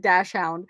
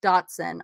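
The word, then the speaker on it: dachshund: you look at it does that look like dash hound to you looks like dash hound so i've always pronounced it dash hound and i was over i think it was rachel strickland who pronounced it like me and i was like yes yes somebody else like totally said it wrong my husband's like that's datsun i'm like how on earth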